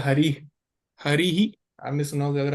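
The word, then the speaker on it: हरिः: नहीं है क्योंकि क्योंकि इसके पीछे विसर्ग है तो इसका उच्चारण ही की तरह होगा।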